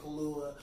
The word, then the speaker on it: Kaluuya: Daniel Kaluuya.